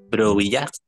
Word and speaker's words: brouillard: Brouillard. Ujú. O-U, O-U, toujours U para nosotros. O-U, toujours U. Brouillard. D'accord?